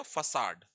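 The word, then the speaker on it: façade: फेस, और एड को जोड़ दे तो हो गया फसाड। इसे फसाड बोलते हैं, फसाड। प्रोनाउंसिएशन की कई बार इंग्लिश में थोड़ी दिक्कत होती है।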